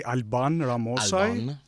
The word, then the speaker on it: Alban Ramosaj: So, like, in Albanian, you would say Alban Ramosaj. Ramosaj.